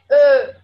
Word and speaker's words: Ö: You just have to not open your mouth like you would open to say O. You have to say Ö. It's like more narrow. So it's very narrow.